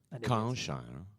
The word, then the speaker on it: Kyle Shire: I mispronounced both of their names. Kyle Shire. There we go.